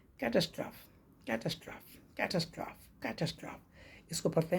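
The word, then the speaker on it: catastrophe: जो आपदा है कैटस्ट्रोफी कैटस्टोफी कैटस्टोफी ना कि कैटस्ट्राफ ई लगा है तो आपको लगा कैटस्ट्रोफी पढ़ना चाहिए लेकिन होता क्या है कैटस्ट्रोफ सी ए टी ए एस टी आर ओ टी एच ई कैटस्ट्रोफ कैटस्ट्राफी कैटस्ट्रोफी कैटस्ट्रोफी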